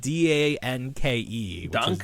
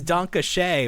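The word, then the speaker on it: danke: and I was like how do you say the word D A N ke German for thank you dona. I was like is it dank? I know it's donkey but I was like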